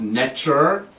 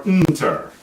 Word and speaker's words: Neter: It's often pronounced neter, or nter.